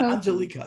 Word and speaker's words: Angelica: Angelica. Angelica. Yes, you are close. Angelica. Thank you. I had the accent on the wrong syllable.